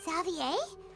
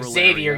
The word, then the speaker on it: Xavier: Zavier, what are you doing? That is not how you pronounce his name. That is Xavier, you dumb [ __